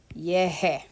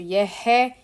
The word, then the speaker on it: llegué: Okay, so when we have this verb, for example, llegar, we want that g sound because our infinitive and all of our normal stuff have the ga sound, which is this hard g sound.